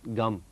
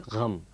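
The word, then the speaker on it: ग़म: I had to have a kind of an instructor saying, it's not gum, it's gham.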